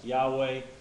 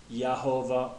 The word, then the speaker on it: Yahweh: be like YH wh and some people think it's YH VH and that's why you have variations like Yahweh or yahovah or Jehovah instead of a y some people think it's a j you know so you